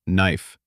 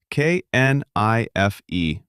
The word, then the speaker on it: knife: Let's start with knife. K N I F E. How do you say it? Knife. The K is silent.